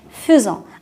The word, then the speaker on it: faisons: fait et nous faisons ça s'écrit faisant et se prononce faisant alors on fait un